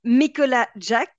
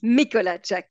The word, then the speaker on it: Mikolajczak: name is and my last name is mikola Jack like the Sur name like the first name Nicola Jack but it's mikola Jack so it's quite easy